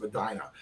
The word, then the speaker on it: Medina: That was Drew Allar, 6'5", 228-pound senior, our number 4 prospect from Medina, Ohio, I believe that's pronounced Medina.